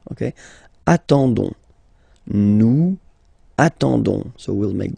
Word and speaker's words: attendons: Okay, you don't pronounce the s, so you get only this on sound. Okay, attendons, nous attendons, so we'll make the link between the two, la liaison.